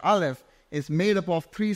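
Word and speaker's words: אלף: one and the name of the this letter Alf can also be pronounced as alof which means the master the Lord it is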